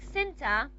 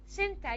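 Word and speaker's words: centre: Center, you have a schwa in here when you transcribe. Remember, we don't care about the spelling. Spelling is not important for us because spelling is misleading. How do you pronounce this word? Center, you do have here a schwa. So there's a vowel between the ta and the ra.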